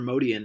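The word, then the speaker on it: Motian: lefur and drummer Paul motion or mode Ian as how MODY and really pronounce it he's Armenian before they went into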